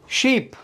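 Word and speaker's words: ship: देखो प्रोनाउंसिएशन आपको पता होगा, स्मॉल वोवल और जो हमारा लॉन्ग वोवल है वो क्या होता है। तो स्मॉल वोवल में क्या होता है, जो फटाफट बोलते हैं हम, राइट।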